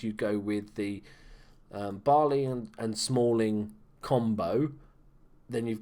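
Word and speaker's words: Bailly: got the new one Eric barley as they call it is it barley is it pronounced Eric Bailey it says Bailey I'm saying Bailey um but just a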